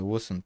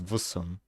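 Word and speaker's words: Wusun: But the same goes for the Wusan people, or they're pronounced as Vusan, not Wusan.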